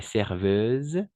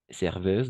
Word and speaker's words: serveuse: acteur acteur elle est serveuse serveuse n'oubliez pas le S entre deux voyelles on va prononcer comme un Z d'accord joyeuse d'accord joyeuse